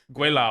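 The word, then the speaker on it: gweilo: What's the pronunciation? How do you say give it? them the heaviest of metals. Quaylaw? Guilao.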